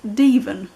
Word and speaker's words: Devon: river's name is actually spelt devon as in the county but it's pronounced deven it's one of those